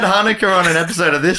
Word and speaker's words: Hanukkah: heard some people say chuna was that I think I don't think anyone's ever said that what do you mean it's hanuk with a silent ch I thought I thought